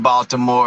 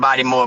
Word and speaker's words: Baltimore: Okay, I'mma say it right. Baltimore, I I I know how y'all got the I know how y'all got the name body more, but it's all good.